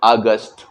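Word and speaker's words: August: Pronunciation के माध्यम से अगस्त बोलेंगे। अगस्त भी बोल सकते हैं या अगस्त भी बोल सकते हैं। यहाँ पे ता के जगह पे टा का उच्चारण हमको करना है।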